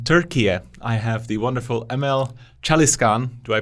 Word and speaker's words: Emel Çalışkan: All the way from Turkye, I have the wonderful Emel Çalışkan. Do I pronounce that correctly?